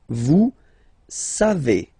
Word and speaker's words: savez: Then vous savez, classic ending for vous, EZ, but then phonetically it's et, vous savez, savez.